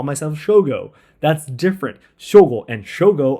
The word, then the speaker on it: Shogo: I do not call myself Shogo when I speak in English. I call myself Shogo.